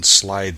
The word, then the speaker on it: slithy: to pronounce slithy toves the eye in slythe is long as in writhe and toves is pronounced